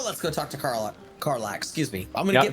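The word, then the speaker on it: Karlach: Carlac. Excuse me. I'm going to get better at it. No, no, you just say Carlock. It's fine. It's again like a pet name.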